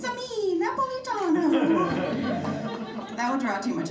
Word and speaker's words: Napolitano: in their graves because it's actually, you ready? Napolitano. You have to say it with an offensive Italian accent and a hand gesture.